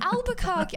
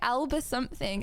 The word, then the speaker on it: Albuquerque: Oh my gosh, it was actually Albuquerque. I thought it was going to be like Alba something, and I got a few syllables you got it wrong right at on least.